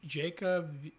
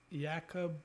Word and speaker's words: Jakub: like you know getting to know how's it pronounced it Jacob Yakub Yakub? Oh Jacob, yeah yeah Jacob.